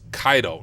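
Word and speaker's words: Caido: what I'm going to use or it's actually pronounced kaido I realize I've been saying it wrong this entire time but it is pronounced kaido now the reason I use kaido is it's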